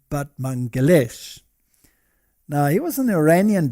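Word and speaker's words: Batmanghelidj: scientist and his and his name was this one over here batman but apparently you pronounce it but mangalesh now he was an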